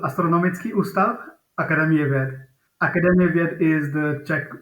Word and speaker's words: Astronomický ústav Akademie věd: Yeah, so in Czech, it's called Astronomický ústav Akademie věd.